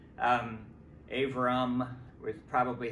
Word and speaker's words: Abram: that the the the the letter b sounds more like a V or somewhere in between a b and a b sometimes um avram with probably how it